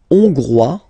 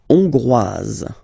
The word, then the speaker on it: Hongrois: La Hongrie, Hongrois, Hongroise. Okay? Hongrois, Grois, Hongroise. Okay, so here final S not pronounced for the masculine form, and then you pronounce it here for the feminine form.